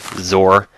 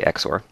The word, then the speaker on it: XOR: is another exor uh some people pronounce this zor or exclusive or I just say exor uh this is a